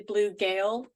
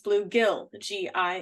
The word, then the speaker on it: bluegill: that I realized that it is not actually blue gale, like Gail, that it is bluegill, Yes. Gill, Yeah. because my family would always pronounce it blue gale.